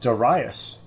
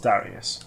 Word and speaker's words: Darius: apparently I've been reading recently it should be pronounced daras not Darius ah as in daras for football uh apparently